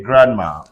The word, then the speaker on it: grandma: everybody's a belt in words like g-r-a-n-d-m-e say Grandma s-a-n-d-w-i-c-a-c sandwich h-a-n-d-k-e-r-c-h-i-e-fc handkerchief h-a-n-d-s-o-m-e-c handsome but look